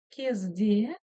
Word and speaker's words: кезде: кезде кезде Седа смотрите ударение конечно же должно было бы стоять на палочке с точкой но так как палочка с точкой у нас звучит очень коротко да Лич намёк на буковку то ударение переходит вот сюда на звук на букву е в слоге се а теперь Давайте попробуем